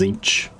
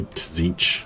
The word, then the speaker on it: Tzeentch: Actually, do you pronounce the T in Z? It's like just, is it Tzeentch or is it just Tzeentch? It's just kind of Tzeentch, isn't it?